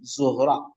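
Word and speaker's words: ज़ोहरा: इसका तलफुस जो है प्रोनाउंसशन बन बनी जोहरा ज़ेर के बाद ओ और फिर जिए कम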